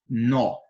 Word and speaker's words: nó: pronúncia das duas palavras na primeira eu pronuncio com menos intensidade no já na segunda devido ao acento agudo que é esse tracinho aqui para cima pra direita eu pronuncio com mais intensidade Então passa a ser nó algumas pessoas cometem esse